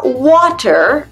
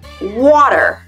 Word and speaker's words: water: ne dit pas water mais water pour l'accent américain water le T ça devient un D mais aussi en butter le beurre ça devient butter butter le ça devient un D better mieux c'est better bref au milieu tout l'été ça se transforme en D water butter better like